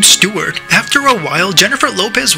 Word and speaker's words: Stewart: Khloe Kardashian doesn't really know how to pronounce the name Stewart. After a while, Jennifer Lopez wanted to correct her. Stort.